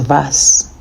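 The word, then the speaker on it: was: we learn the alphabet W is V so it's pronounced vas and means what fits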